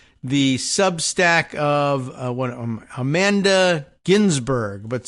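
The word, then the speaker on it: Guinzburg: Amanda Ginsburgg, but spelled Gu U I N Z B U R G, but I think it's probably pronounced Ginsburg.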